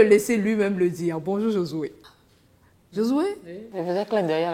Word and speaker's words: Josué: Moi, c'est Josué. Josué. Josué, comme ça, Josué.